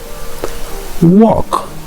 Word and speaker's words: walk: Walk. So L ça n'est pas prononcé.